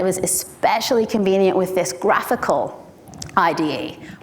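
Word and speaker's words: GraphiQL: especially convenient with this graphical IDE which I called graph eql for my entire time up until I realized graphical is much much better way to pronounce that it makes much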